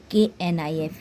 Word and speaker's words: knife: Next, KNIFE, knife. KNOW, knife. KNOW, no. KNOW, no. KNEE, knee. KNEE, knee. In these words, the K is silent letter, where we can't pronounce K.